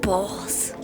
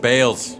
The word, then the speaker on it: Bhaal: And I think you know a thing or two about balls. It's pronounced bales.